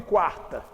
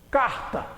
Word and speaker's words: quarta: Na palavra quarta, olha o QU de quarta. Ele é pronunciado, quarta. Senão seria o quê? Carta, carta. Isso aqui é quarta.